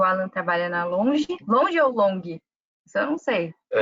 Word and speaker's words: Longi: O Gustavo trabalha na Jinko e o Alan trabalha na Longe. Longe ou Long? Isso eu não sei. É longe, longe, Long, a pronúncia é como se fosse um J, assim, então, longe.